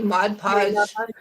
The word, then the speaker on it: Mod Podge: on there hmm yeah Margie said it right mod mod podge I don't know why I add the extra G on that and I do the